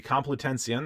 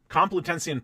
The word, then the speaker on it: Complutensian: to do so so um that is the complitension that's spelled com PLU t-e-n -s-i-a-n and polyglot is exactly as it sounds p-o-l-o-y g-l-o-t the complitensian polyglot uh sounds like a you have North